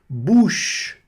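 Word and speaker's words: bouche: E o o mais u boc muito né? Bush. Bush que quer dizer boca. Bush, né? Não pronuncio o e no final. Bem suavezinho aqui. Só puxa. E puxou aqui o ch, né?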